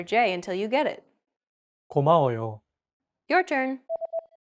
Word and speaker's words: 고마워요: 고마워요. It means thank you. 고마워요. Keep repeating after Jay until you get it. 고마워요. Your turn. 고마워요.